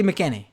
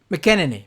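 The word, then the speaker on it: McEnany: white house press secretary kaylee mckinney i think that's right mckinnony mckennay there's an extra n in there actually she did the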